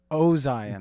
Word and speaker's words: Ozien: Ozien. Okay. Sure. Like ozone.